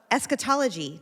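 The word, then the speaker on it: eschatology: And, um, we're going to talk about esquetology. Did I say it right? Yeah, you did.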